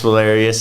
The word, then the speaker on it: Valerius: Yeah, so my name's Valerius. Rhymes with hilarious.